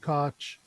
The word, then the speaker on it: Koch: Someone said Koch. Okay, so that is correct pronunciation.